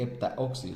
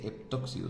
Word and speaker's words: heptóxido: si hepta entonces heptóxido no se dice heptaóxido se dice heptóxido seguido de hay un